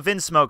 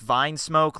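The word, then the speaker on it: Vinsmoke: some references on the vinm smoke family or what I I hear is the it's pronounced Vine smoke like wine smoke and hey that makes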